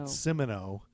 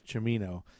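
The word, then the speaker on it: Cimino: was directed by Michael chimino Michael chimino and we both said Simo and you were like who cares but it's chimino the only reason I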